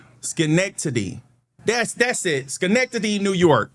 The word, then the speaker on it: Schenectady: Okay, it's spelled Schenectady. Schenectady.